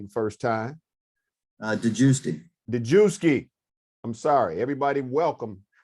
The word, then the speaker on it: DeGiusti: Help me, since I butchered your name. I usually butcher everybody's name the first time. DeGiusti.